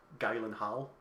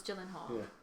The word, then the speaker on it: Gyllenhaal: is it Prince Gyllenhaal it looks like it's pronounced Galen hull no it's Gyllenhaal Joey's famous sister who she please and that